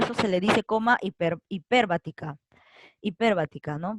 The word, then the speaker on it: hiperbática: Por eso se le dice coma hiperbática. Hiperbática, ¿no? Porque la tilde está acá en la per.